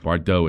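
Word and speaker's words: Bardot: Bridget Bardau is one of the hottest women that ever lived. One of the hot Bridget Bardau son uh Bardau it's pronounced.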